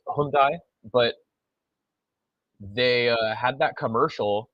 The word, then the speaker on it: Hyundai: where they were like Hyundai like a Sunday or something like that and so but that's not how you say it in what Korea I think that's Korean but yeah thanks for